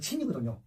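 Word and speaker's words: 秦: 잘 모르는데, 왜냐하면 그 진시황의 진나라는 이제 중국어 발음으로는 친이거든요.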